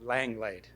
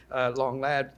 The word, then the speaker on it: Langlade: Michel Mouet de Langlade, or, as I think you pronounce it here, Langlade. I'm afraid for years I've been pronouncing it Langlade after the French, and I know I'm